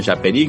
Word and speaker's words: Japerí: Si mandamos un saludo a a la gente de Conexión Japerí, Conexión Japerí con J se escribe, se pronuncia así en portugués, pero se escribe con J.